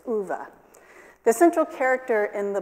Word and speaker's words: Ove: called a man called ova I actually had to look up how to pronounce that Swedish name but it's ovah the central character in